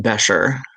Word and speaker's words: Besher: And his last name is pronounced Besher, as in bechamel, and it's like Becker with a soft SH.